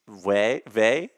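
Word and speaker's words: Wey: Ivana Vey, it's spelled like way, but it's Vey.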